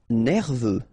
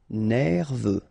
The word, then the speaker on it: nerveux: Nerveux. Final X not pronounced. E-U, E, V. Nerveux. Bruyant.